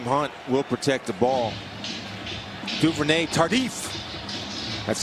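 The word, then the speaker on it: Duvernay-Tardif: Duvernay Tardif. That's how he pronounces it.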